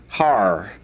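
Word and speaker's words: הר: The first one is the word for mountain which is pronounced har and mountains plural would be harim.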